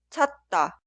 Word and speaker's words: 찾다: Y la segunda palabra se escribe así, pero suena 찾다, 찾다, 찾다.